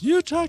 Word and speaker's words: Utah: Utah connection.